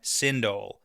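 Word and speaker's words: Sindhol: Right now, we're going to talk about the name Synindle. So s I N D H O L which is spelled so different from sindane but it sounds very similar.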